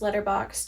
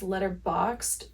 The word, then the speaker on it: Letterboxd: And I use Letterboxd to track every movie that I watch. It's actually pronounced Letterboxd, but you will probably catch me saying Letterboxd until the day I die.